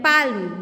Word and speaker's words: palm: Its spelling is PALM, palm, but its pronunciation is palm.